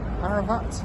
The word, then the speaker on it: Ararat: This is the Soviet state emblem of Armenia, and that's Mount Ararat, which is exactly how you pronounce it, and that's where Noah's Ark washed up.